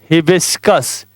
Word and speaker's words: हिबिस्कस: HIBISCUS, हिबिस्कस। हिबिस्कस माने होता है गुड़हल का फूल। स्पेलिंग क्या होती? HIBISCUS, हिबिस्कस। हिबिस्कस माने गुड़हल का फूल। तो कैसे इसकी प्रोनाउंसिएशन याद करेंगे? HIBIS, हिबिस, फिर CUS, कस, हिबिस्कस।